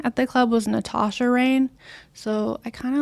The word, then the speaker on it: Rane: So my Instagram handle is Nat Rane Fit, and Rane is spelled Rane. So a lot of people think it's like Renee or something, but it's just Rane.